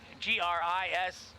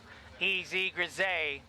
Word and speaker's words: Grisez: Courtney Grisez, G-R-I-S-E-Z, Grisez. We'll go the French pronunciation, Grisez.